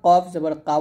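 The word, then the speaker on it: ك: কফ এটা খুবই গুরুত্বপূর্ণ এটা আমরা অনেকে কফ জবর কাফ বলি মানে এই দুইটা এই দুইটা হরফ আমরা একই ভাবে উচ্চারণ করি তো এক উচ্চারণ করার জন্য এটা হবে কফ এটা হবে কাফ তাহলে এটা বলতে হবে কফ জবর ক আর এটা হবে কাফ জবর কা এখানে কফটা মোটা হবে কাফ পাতলা হবে এগুলো আপনাকে বুঝতে হবে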